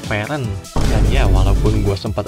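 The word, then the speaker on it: Fern: Setelah gua dengar lagi walaupun namanya ditulis kayak gini tapi dibacanya itu Fen dan ya walaupun gua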